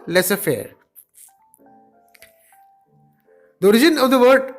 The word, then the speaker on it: laissez-faire: It's pronounced as laissez-faire.